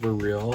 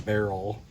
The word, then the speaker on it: Beryl: and it is pronounced Beryl. It's supposed to be named after beryllium. It's not a barrel.